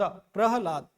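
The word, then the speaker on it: प्रह्लाद: तो ह यहां कम उच्चारण हो रहा है, सबसे ज्यादा उच्चारण क्या हो रहा है, ला और द, प्रहलाद, प्रहलाद।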